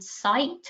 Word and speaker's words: scite: Other initiatives seeking to help measure reproducibility include CITE, which is spelled SCITE_, interestingly, which uses deep learning to